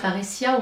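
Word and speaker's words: parrhesia: il y a la parésia, c'est-à-dire parésia, on va le prononcer plus ou moins à la grecque, c'est la capacité à parler librement.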